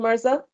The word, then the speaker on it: Mirza: Is that the correct pronunciation of the last name, Mirza?